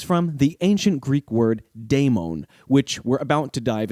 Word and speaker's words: daimon: daimons in modern discussions, the latter is generally transliterated into English as d a i m o n, and it often maintains a unique pronunciation. Because I can't rely on spelling to convey meaning in this format of audio podcasting, in order to maintain clarity over the course of this show, I'm going to use the two distinct pronunciations demon and daimon when each is appropriate.